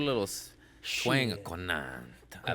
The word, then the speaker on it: Conant: Conant.